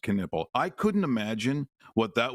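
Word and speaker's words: Knueppel: His name is pronounced Canipple.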